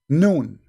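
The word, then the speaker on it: ن: You see, in Arabic, when we pronounce a letter by itself, we pronounce it as if it's a word, but it's not a word.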